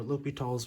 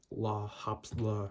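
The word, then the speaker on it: L'Hôpital: do l'hopital's rule so l'hopital's rule is french because it's spelled stupidly look tall some people call it la hops bla or is it a hospital those people are wrong and i will fight them but anyway what this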